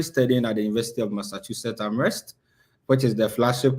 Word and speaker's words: Massachusetts: Somebody said you're studying at Master Jesus. It's Massachusetts. Yeah, That's how I pronounce it.